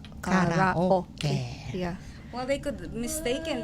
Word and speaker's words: karaoke: It's karaoke because I don't think the Japanese have the you in the And the among R. the They have vowels. R, right? They have R.